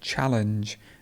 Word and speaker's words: challenge: here and challenge challenge the stress would be hit challenge and there would be a schwa challenge not challenge channel the stress is